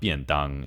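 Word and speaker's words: 便當: So I think one of the biggest examples, or probably one of the most common examples, is bento, which is pronounced biandang in Chinese.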